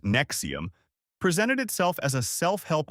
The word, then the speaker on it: NXIVM: NXIVM, pronounced Nexium, presented itself as a self-help organization offering leadership and professional development workshops.